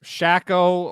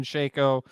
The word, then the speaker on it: Shaco: shaco and yonei and if you think it's shackle or any other pronunciation other than shaco you can direct your